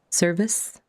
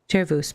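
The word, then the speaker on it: Cervus: Like I always want to say Chervous because that's the Latin pronunciation that you would use in singing.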